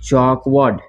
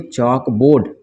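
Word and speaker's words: chalkboard: बाद ये हो गया चौक वार्ड इसको क्या पढ़ेंगे चौक बोर्ड चौक वर्ड नहीं चौक बोर्ड क्या पढ़ेंगे इसको चौक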